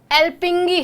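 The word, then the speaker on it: Alþingi: Iceland, Iceland की parliament का नाम देखो डियर, इसकी वैसे तो ये ऑल थिंग लिखा है, ठीक है, इसकी प्रोनाउंसिएशन एल्पिंगी है, वैसे प्रोनाउंसिएशन क्या है आपकी एल्पिंगी, ये रहा, हिंदी में भी लिखा हुआ है, लेकिन इसकी स्पेलिंग ALTHING और प्रोनाउंसिएशन एल्पिंगी।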